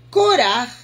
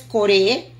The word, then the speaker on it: Korach: Entonces, para mí, sorpresa, Korach viene de la misma raíz, y así se pronuncia en hebreo Korach, en español es Coré, pero en hebreo es Korach, y Korach viene